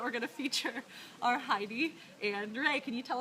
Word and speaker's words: Heyde: you can actually say Haida which is more of along the lines of the German pronunciation that's probably the actual